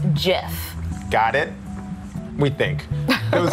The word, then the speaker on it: GIF: By the way, the creator says it's pronounced Jif.